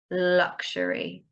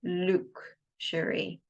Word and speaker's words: luxury: Okay, be careful of the pronunciation of luxury, luxury. Quite often it's mistaken to be luxury. It's not luxury items.